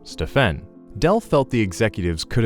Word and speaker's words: Stephen: says Del, when one of the Nike executives pronounced his son's name Stefan instead of the correct name Stephen.